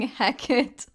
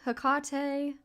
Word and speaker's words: Hecate: really is I think as long as you're not saying heck it you're all right you're okay I've heard hecatee hakate I think I guess